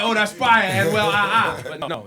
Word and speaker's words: Anuel AA: Am I saying it right, or is it Anuel AA? No, Anuel AA.